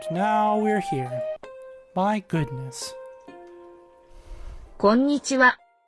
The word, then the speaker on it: こんにちは: こんにちは。 Again, the ha here is pronounced wa because they love to do that.